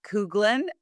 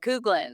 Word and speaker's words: Kuglin: My guest today is Couglin. Oh, I said it right. Right. I said it's like you told me cougar with a lens. So, Couglin, I like that.